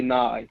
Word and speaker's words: Nye: It's not that hard. but Usually just say Nye. They call me a nickname. Nye, like Bill Nye, the science guy.